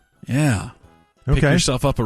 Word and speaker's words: Ye: up because of those Yeezy shoes when Kanye West or Ye or Yee? How do you say it? That was yay.